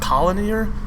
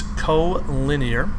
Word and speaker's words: collinear: This is not colinear, it's collinear. That's how it's pronounced.